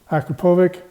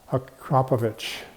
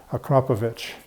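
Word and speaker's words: Akrapovič: I always call them Akrapovic, but if you call them up, the way they answer the phone there is Akrapovic. Like there's an H on the end. Akrapovic is obviously the correct pronunciation.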